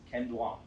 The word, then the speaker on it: Ken Duong: Ken Duong. Am I pronouncing that right? Yes, Ken Duong. Thank you very much. Ken Duong.